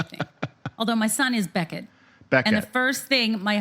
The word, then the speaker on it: Beckett: I thought you were going to say people called him Becquet. That's the French pronunciation. Beckett.